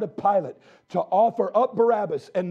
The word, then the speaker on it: Barabbas: The name Barabbas comes from two syllables, Bar, Abbas. Bar, the son of Simon, Bar Jonah.